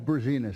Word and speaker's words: Berzinas: Yeah, it's Berzinas, thank you.